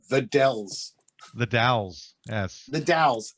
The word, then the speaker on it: Dalles: called the dells the dalles yes the dalles it's i've never seen a city that has dust something and but also spell d-a-l-l-e-s yeah and they say dalles as opposed to dallas but there's also a